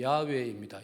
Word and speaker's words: 야훼: 끝에 야라는 말은 여호와, 이스라엘 발음으로 정확하게 말하면 야훼입니다.